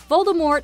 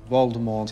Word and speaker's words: Voldemort: The T is silent. Harry Potter franchise. Voldemort is a name many wizards are afraid to say.